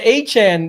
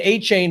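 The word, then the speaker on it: Achane: The old Canadian the A-Chan. They want you to make sure you're not saying A-Chain anymore.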